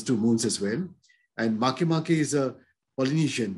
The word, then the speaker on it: Makemake: And Makemake is a Polynesian name. And that is how it is pronounced.